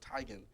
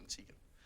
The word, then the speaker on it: Teigen: she said she said her name was actually pronounced tygan and that they that Hollywood turned into Tegan I think that's just